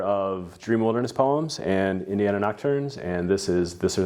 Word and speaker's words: Nocturnes: author of Dream Wilderness Poems and Indiana Nocturnes. Shit, I said it wrong. It's okay. Indiana Nocturnes, and this is This or That.